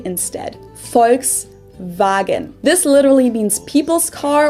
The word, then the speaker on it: Volkswagen: f and v instead folks wagon this literally means people's car or oops because it's supposed to be like in v instead of four w so far yeah car